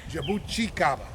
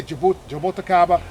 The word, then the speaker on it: jabuticaba: And he said it's jabuticaba. Okay. Jabuticaba. I know a lot of people say jaboticaba. Yes. But yeah, I think any way you say it is fine.